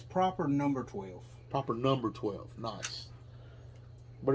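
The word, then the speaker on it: Proper No. Twelve: 12 which i i we've been pronouncing that wrong it's proper number twelve proper number twelve nice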